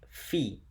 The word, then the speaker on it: phi: is actually somewhat important that number is pronounced fee and when you write